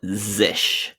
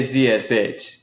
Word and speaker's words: zsh: it I I say CSH you say zish I've heard other people say zish maybe zsh is another one because it's like zsh has three syllables zish one syllable he's the most elegant